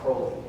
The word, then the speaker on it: Crowley: is Crowley c w l e y i pronounce it Crowley I came to find out that Crowley's Dairy